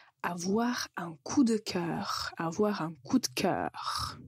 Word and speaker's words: avoir un coup de cœur: un coup de cœur avoir un coup de cœur quand vous le prononcez très vite vous allez juste entendre une lettre T au milieu avoir un coup de cœur si on a un